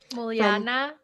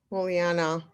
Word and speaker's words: Muljana: I've never pronounced your last name. Muliana. Muliana. That's better.